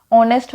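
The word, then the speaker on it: honest: ऑनेस्ट हमने देखा, ऑनेस्ट में आवाज़ आ रही है ओ की, ठीक है। एच साइलेंट होता है, यहाँ पे एच साइलेंट होता है, ठीक है।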